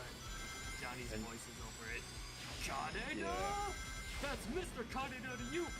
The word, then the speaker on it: Kaneda: I pronounced his name Canada. God. There was even a D in there, man.